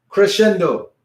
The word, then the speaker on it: crescendo: Okay, if you really want to sound very Italian, make sure you roll the R.